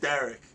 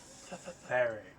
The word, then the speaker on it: Theric: Derek. No, you said it with a D. It's a TH. Theric.